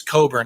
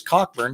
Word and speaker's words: Cockburn: and you're right it's bruce coburn i knew that i knew that actually my teacher told me that i always call him bruce cockburn because that's how it's spelled okay i'm gonna